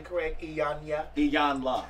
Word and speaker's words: Iyanla: Iyanla.